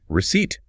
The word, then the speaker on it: receipt: And when English speakers borrowed the word from the French, we spelled it without a P and we pronounced it without a P. We said receipt.